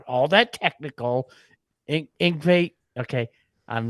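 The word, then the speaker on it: Yngwie: Ingve, okay, I'm not going to try not to.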